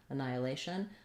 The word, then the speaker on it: annihilation: but you can see there's no letter h which is the symbol for the sound annihilation i can also listen